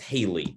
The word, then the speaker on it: Halley: be familiar with uh edmund halley sometimes pronounced haley uh people may have